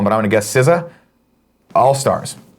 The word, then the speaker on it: SZA: for this one, but I'm going to guess SZA. All Stars. How do you say that? SZA. Yeah. Sha?